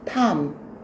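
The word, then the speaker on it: Tom: 톰이라고 읽으면 돼? 안 돼? 안 돼. 미국에는 톰이 안 살아요. 탐.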